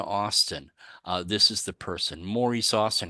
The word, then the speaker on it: Maurice: Maurice Austin. I even note that they pronounced it Morris.